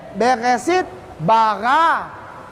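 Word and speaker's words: בראשית ברא: Ini bacanya beresit, bara.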